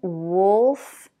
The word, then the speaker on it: wolf: The next one, wolf, golf. So again, same spelling, different vowels. In the first one, uh, wolf.